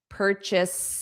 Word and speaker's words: purchase: So chase, if you're running after someone, chase, it's not chase, it's chis because it's unstressed.